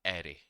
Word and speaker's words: array: तब वहां पर काम आएगा एरे और इसकी स्पेलिंग है ए आर आर ए वाई। इसको एरे कहा जाता है। अरे नहीं कहा जाता।